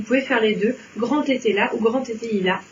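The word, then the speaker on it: Etteilla: Le grand était là. Oui, bien joué. Ah. Bien joué. Alors très souvent, je l'entends mal prononcer parce que les gens disent le grand était ya.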